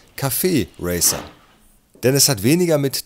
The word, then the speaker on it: Café Racer: klugscheißer punkt aufschreiben denn das heißt nicht café racer oder café racer hier ist jetzt auch in vielen tv magazin falsch ausgesprochen wird sondern es heißt café racer denn es hat weniger